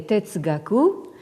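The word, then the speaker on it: 哲学: Alors, donc, vous avez ce composé qui se prononce en japonais Tetsugaku et en chinois Zhexue, et qui signifie littéralement donc xue, l'étude de zhe, c'est-à-dire donc de la sagesse.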